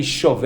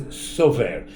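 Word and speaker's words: שׂובר: to see, but it doesn't actually say shover, and as it says sover. Now usually sover as a svara means a logical argument, it's spelled with a samach, right? Here it's spelled with a sin, but that's acceptable. Sin and samach are the same sounds.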